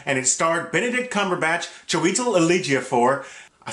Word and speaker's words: Chiwetel Ejiofor: Doctor Strange was directed by Scott Derrickson, and it starred Benedict Cumberbatch, Chiwetel Ejiofor, I said it right, Tilda Swinton, Mads Mikkelsen, and Benedict Wong.